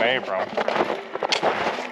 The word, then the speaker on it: Abraham: couple different ways today it's spelled Mount Abraham but the locals all pronouncing around Abram here's a sign spelled